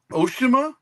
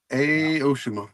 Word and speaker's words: Aoshima: Oshima. Aoshima. Aoshima.